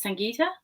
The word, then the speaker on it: Sangita: My first name pronounced as Sangita, and the is not my last name.